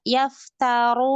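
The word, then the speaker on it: يَفْتَرُونَ: Yang harusnya dia misalkan kata yaftarun. Dia baca dengan yafturun. Fathah ya ganti dengan kasroh.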